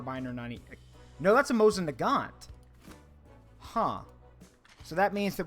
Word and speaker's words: Mosin Nagant: foreign yep that's a Mosin uh 19130 sorry Mosin Nagant 9130 that's how you say it all right